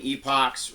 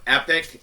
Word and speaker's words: epoch: We have before the patriarchs and the beginning of human civilization as Epoch 1, or epic, as some people pronounce that. They pronounce it epic, or epoch.